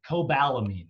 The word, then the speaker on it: cobalamin: Cobalamin, that's how you say it.